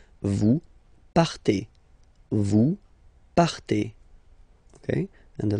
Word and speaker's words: partez: Okay, then for vous, classic ending for vous as well, EZ, but then you pronounce it et. Vous partez.